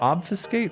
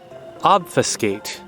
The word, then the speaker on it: obfuscate: difficulty how so obfuscating is it obfuscate or obfuscate what's that second syllable it's obvious you know what not that i don't trust you guys but it's obfuscate obfuscate yeah really ezra knows